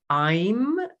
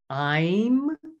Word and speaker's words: Aim: And so the bija mantra there is I'm, you can spell it A-I-M or A-Y-M, I'm.